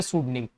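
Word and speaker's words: pseudonym: ये P silent है यहाँ, सूडो का मतलब सूडो में काल्पनिक होता है, तो टुकड़े कर लो इसको, पी प्लस सूडो प्लस निम, तीन टुकड़े कर लो वर्ड के, याद कर दो।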